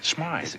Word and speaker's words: Smythe: Look, Mr. Smith. Smythe. It is pronounced Smythe.